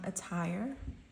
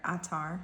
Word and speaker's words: attar: Okay, starting off for pile number 1, we have this saffron attire. Or not attire, attar is actually how you say it.